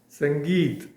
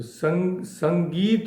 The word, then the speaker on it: sangeet: So sangeit word is formed of three syllables. Sum plus g plus t.